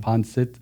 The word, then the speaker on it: pancit: Okay, pancit. They said that properly too. Say it again. Pancit? Yeah. I said it right?